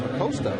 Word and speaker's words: Acosta: Actually, it would be pronounced Acosta, right? Proper Spanish pronunciation.